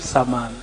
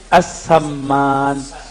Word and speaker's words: as-Samman: Ya, yang pertama tadi tentang ratib saman. Sebenarnya cara bacanya ratib as-samman. As-samman ya.